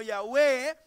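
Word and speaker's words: Yahweh: jehová jehová yagüe o está en estas cuatro letras del alfabeto del alfabeto hebreo a las cuales se le pusieron las vocales de la palabra adonay para que se pueda pronuncia como ya ve esta palabra también refleja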